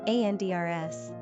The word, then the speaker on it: Anders: Pronunciation, ANDRS.